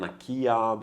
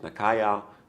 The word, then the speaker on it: Nakaya: It's pronounced by some Nakia, by some it's pronounced Nakaya, some pronounce it Nakaya, but the proper pronunciation, I especially checked with Japanese friends recently, it's Nakaya.